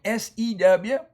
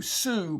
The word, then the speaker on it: sew: on a sewing machine, SEW. It's a very irregular spelling there. SEW usually says ooh, sue, but it's sew.